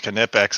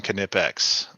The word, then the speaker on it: Knipex: But that you don't leave the K out.